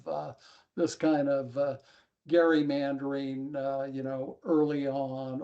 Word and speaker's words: gerrymandering: I want to applaud Bill because he pronounced it gerrymandering. That's the actual way to do it. It's not Jerry Dyer mandering. None of that.